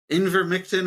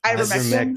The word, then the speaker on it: Ivermectin: Remember when there was Invermectin or whatever the fuck it was called? Ivermectin. Ivermectin, Scott. Yeah.